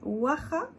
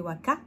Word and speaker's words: waha: Alors que si vous le prononcez, il y en a qui va le prononcer waka. Waka waka. Les chansons de Shakira. Waka waka. Mais c'est pas waka waka. C'est un alphabet qui est le kha.